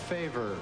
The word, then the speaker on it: Favre: the selection of Brett Favre, and he was so unknown at that point, at least to a lot of people, that they pronounced the name as it is spelled instead of as it's pronounced.